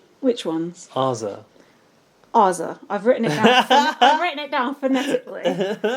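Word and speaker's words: Azah: Yeah, but I feel like that's the way an American would say it. I feel like we would say Azza.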